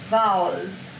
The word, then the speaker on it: vowels: times everyone the chi the chin should go down once it is a one syllable word the way you say a cow vowels open your camera look